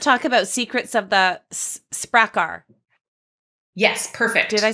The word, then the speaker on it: Sprakkar: So let's talk about Secrets of the Sprakkar.